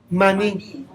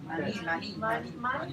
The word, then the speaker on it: Mani: Maní. Mani, pero sin acento en la I. No tiene acento en la I, pero suena más bonito Maní.